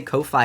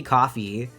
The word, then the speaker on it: Ko-fi: First time ever chatting just because I heard Critter say Ko-Fi instead of coffee. I mean, it's spelled like Ko-Fi, like lo-fi. I know it's supposed to be coffee. I mean, you don't say loafy, do you?